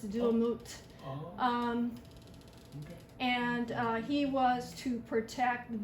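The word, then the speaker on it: Duamutef: So the name of that god is Duamut, I believe. He's a falcon-headed god that is one of Horus's kids. And so you don't pronounce the F, so it's Duamut.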